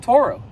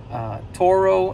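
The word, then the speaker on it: Turo: video about a car that I rented on Toro. It's spelled T-U-R-O. If you've never heard of it, you can go on Google. You can type in Toro and find it's a car sharing platform where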